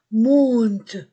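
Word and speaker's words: montent: Monte o n o n t du verbe pluriel ne se prononce pas monte les marches du kiosque.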